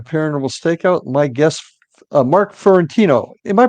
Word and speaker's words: Fiorentino: are back at paranormal Stakeout my guest Mark fiorentino am I pronouncing that correctly Mark yes that's good okay